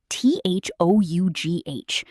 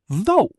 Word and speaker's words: though: Like, think about the word though, t h o u g h. How do you say it? Though. Just though. The g, the h, the u, completely silent.